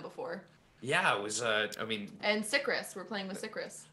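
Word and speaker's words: Cicrus: read their name, and the whole time I thought it was pronounced like, you know, like citrus, because it's spelled C-I-C-R-U-S. Yeah. Like circus, but backwards. I thought it was circus when I first met it. Several times I said that too. So I was like, oh, Sikris, like citrus.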